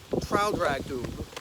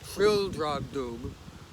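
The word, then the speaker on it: Traldragdubh: It contained a warrant for conducting me and my retinue to Traldragdub, or Trildragdub, it is pronounced both ways as near as I can remember, by a party of 10 horse.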